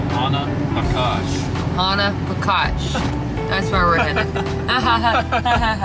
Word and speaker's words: Ohanapecosh: I was saying it wrong. It's Ohanapecosh, right? Ohanapecosh.